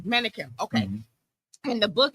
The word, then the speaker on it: Menakem: How do you pronounce it? Menakem. Menakem.